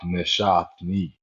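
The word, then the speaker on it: נשאתני: Veruach neshatni Mhm.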